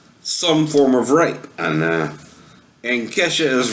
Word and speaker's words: Kesha: Anyway, I pronounce it Keisha, but she pronounces it Kesha, whatever.